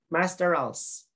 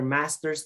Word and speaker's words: master's: common uh law partner okay master else you're not taking your master else or your doctorals you're taking your master's degree you're taking your